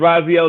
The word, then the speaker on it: Raxiel: the name wrong but the x is pronounced like a z oh so my name is yeah yeah yeah so yeah my name's raziel liz i act i